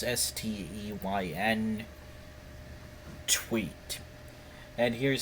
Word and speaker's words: Steyn: I don't know how to pronounce it. It's Steyn tweet.